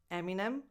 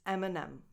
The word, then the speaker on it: Eminem: So it's not Eminem or something like that, it's Eminem.